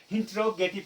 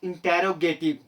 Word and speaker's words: interrogative: My dear friends, majority of India pronounce it interrogative. I'm so sorry if you are one of them. You are incorrect. You are pronouncing this word incorrectly. Its correct pronunciation is interrogative, not interrogative.